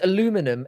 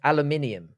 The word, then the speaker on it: aluminium: know what I mean you added an extra I and syllable no but it's two different it's two different things there's aluminum and there's aluminium there's two different things